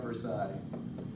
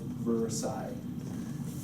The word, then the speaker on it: Versailles: of Versailles Treaty of Versailles you may have noticed that there are a bunch of letters in this word that you don't pronounce that is because it is flash and in the French language there are lots of